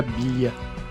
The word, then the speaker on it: Biglia: Tanto é que em 2019 o autor Stefano Biglia, eu acho que se pronuncia Biglia, com esse Biglia aí, o G e o L faz essa pronúncia.